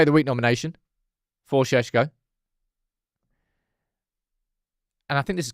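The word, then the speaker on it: Šeško: Right, as I said, we'll have a little conversation about Shesho now. That is how you pronounce his name.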